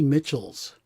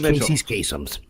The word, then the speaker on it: Mitchell: And I don't see them doing it as much, but when I was a kid, they did like Joanie Mitchell's. It's like, no, it's it's Mitchell.